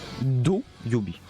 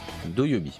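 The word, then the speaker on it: 土曜日: Do Yobi. Do Yobi.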